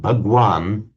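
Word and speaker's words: भगवान: Hindus of modern India, the same word, which in Hindi is pronounced Bhagwan, is used for a very revered teacher.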